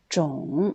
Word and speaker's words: 种: Quand c'est 3e ton, 种, c'est un nom qui veut dire espèce ou variété ou race.